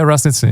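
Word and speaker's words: Raz Nitzan: Like, but that got released, Raz Nitzen, is that how you say it? Yeah, Raz Nitzen, yeah.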